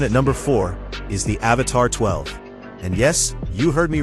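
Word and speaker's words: Avatr 12: Coming in at number four is the Avatar 12. And yes, you heard me right. It's pronounced Avatar 12, but the name isn't the weird part.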